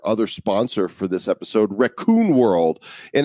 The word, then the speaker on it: Rakun: Our other sponsor for this episode, Raccoon World, and it's not spelled like the animal raccoon. It's spelled RAKUN, Raccoon World, and they've created